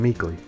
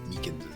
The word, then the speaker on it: Meekins: I keep getting his name wrong, calling him Meekly. Seeing these two characters He side by knows. side just lets you know how out of place Meekins is.